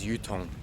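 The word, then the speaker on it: Uthong: I might pronounce that wrong, but the easiest way I can say it is Yutong.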